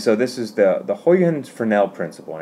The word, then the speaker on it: Huygens: lecture today and so this is the the houyan's Fornell principle on its its height hens is the right way to print it pronounce it it's not easily said it could